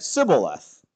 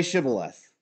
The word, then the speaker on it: Shibboleth: Say the word Shibboleth. Well, what does the Bible say? "And he said, Sibboleth." For he could not frame to pronounce it right.